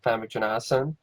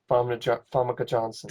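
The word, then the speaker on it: Famke Janssen: It starred Treat Williams and Famke Janassan. Also had I probably said her name wrong. Of course I do. Funke Johnson. Famke Johnson.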